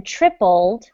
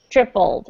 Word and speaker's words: tripled: As the number of students going abroad has more than tripled, so sometimes these words that end in LE, imagine that the E and L are flipped around, okay? Like this, tripled, if you want to pronounce them.